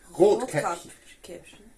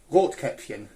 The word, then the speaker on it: Rotkäppchen: Is it Rotkäppchen, that's right, yeah, with the umlaut. That's basically... Say it again now, sorry? Rotkäppchen.